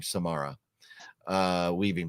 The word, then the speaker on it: Samara Weaving: Because there's a few babysitter movies, but the one with Samara, I think you pronounce her name Samara Weaving, but man, she is great.